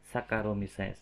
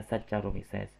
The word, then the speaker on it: Saccharomyces: Misalkan tadi contoh Saccharomyces itu bacanya bukan Saccharomyces ya, bukan Saccharomyces, tapi bacanya seperti huruf K, Saccharomyces ya, Saccharomyces. Jadi jangan dibaca Saccharomyces ya.